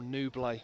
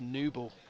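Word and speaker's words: Nouble: him from home I've been saying Joel nubla and it's new ball so this is the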